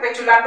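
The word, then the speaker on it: petulant: যাচ্ছে কিছু একটা নেগেটিভ আচ্ছা পেচুলান্ট এই উচ্চারণটা মনে রাখবেন পেচুলান্ট তাই এই ওয়ার্ডটা ইম্পর্টেন্ট পেচুলান্টটা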